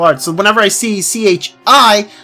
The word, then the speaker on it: chi: I see CH I I think Chi not Kai they're pronouncing as Kai which I guess as you said it's like the Greek Roman letter or the Greek Roman letter you hear me oh my God the Greek word or Greek letter whatever